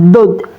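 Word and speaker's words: ض: Coba melafalkannya dod dod. Begitu ya, Teman-teman. Dod D. Keluarnya dari tepi lidah baik sebelah kanan maupun kiri.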